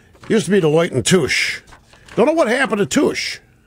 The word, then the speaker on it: Touche: Used to be Deloitte and Touche. Don't know what happened to Touche. I guess Deloitte ate Touche. Or Deloitte consumed Touche. You had to be sure to pronounce the T there.